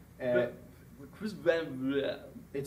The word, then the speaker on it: Vliet: easy, but you know, whoever came over here from Holland, like decades and generations ago, it's Vliet. So everyone tries to put like this French, like Villet or Villet. Right. And Chris Van Vliet.